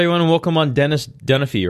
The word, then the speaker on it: Dunphy: Their last name is Dunphy, so I'm like, yeah, just watch Modern Family.